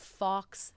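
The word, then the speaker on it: Fawkes: I thought it was pronounced like fix. Fox the Phoenix.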